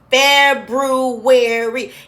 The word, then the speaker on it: February: February. It's actually pronounced exactly the way it's spelled. So let's take a look. February.